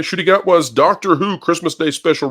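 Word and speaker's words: Ncuti Gatwa: I pronounce that I I think it's shoy I think they say shoy shy gatwa okay shy gatwa Doctor Who Christmas Day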